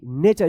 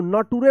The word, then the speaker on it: nature: देखिए NATURE, नेचर। इसको नटूरे मत पढ़िएगा या नेटूरे। जब टी के बाद यू रहता है और लास्ट में ERE रहता है तो इस TU का च उच्चारण होता है, नेचर।